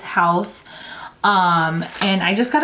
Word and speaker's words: Haus: but yeah house laboratories I wasn't sure if it was like pronounced differently but from what I've seen across the internet it is house um and I just